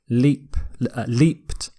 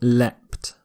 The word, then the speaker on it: leapt: So a slightly different pronunciation. The T ending here, leapt, is slightly more common in British English, and the ed ending is slightly more common in American English, but they're both okay.